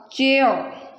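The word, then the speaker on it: chair: English में जो आर है तब तक साइलेंट रहता है जब तक इसको कोई भी वॉल जो है वो फॉलो नहीं करता। Wall means A, ई, आई, ओ, यू, ये जो लेटर्स हैं ये आर के पीछे होंगे तभी आर अपनी साउंड देगा, अदरवाइज जो आर है वो हमेशा साइलेंट रहता है। That's why it's called चेयर।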